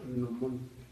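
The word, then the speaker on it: gnomon: Y una pequeña también un pequeño comentario, la varilla que tienen los relojes de sol se llama nomón. Nomón. Se escribe con g n o m o n.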